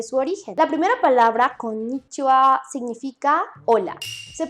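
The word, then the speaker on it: konnichiwa: a explicar rápidamente su origen la primera palabra con nicho a significa hola se pronuncia siendo una pequeña pausa antes de mí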